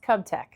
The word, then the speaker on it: KUBTEC: It's pronounced KUBTEC. KUBTEC?